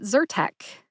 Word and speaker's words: Zyrtec: like purr which is the sound a happy cat makes purr and Tech which is short for technology put both syllables together and you get zertek which syllable do you